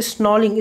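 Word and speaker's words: snarling: तो यहाँ पे जो इंपॉर्टेंट मीनिंग आप देख रही है, स्नॉलिंग, स्नॉलिंग इसमें आर साइलेंट है.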